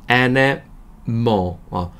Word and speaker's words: animal: 정확히 발음은 animal보다는 니와 네 사이에요. animal. 뭘 아니고 뭐이라고 해서요. animal 정도로 해요.